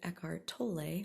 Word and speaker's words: Eckhart Tolle: those spaces of silence through both listening to eckhart tolle which is how you properly say his name i definitely have pronounced it wrong in the past if you've